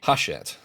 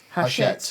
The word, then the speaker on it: Hachette: Now, I've seen, is it Hachette Games? Is that how you say it, Rory? Hachette. Hachette, yeah, it's French company.